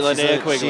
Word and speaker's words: Linnea Quigley: That's right, Linnea Quigley. Is that how you say it, Cody? Yes, it is.